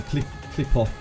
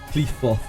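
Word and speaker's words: Qliphoth: Clip off. It's not clip off, is it? It's like Cleefot or something. Cleefoth. Yeah, Cleefoth.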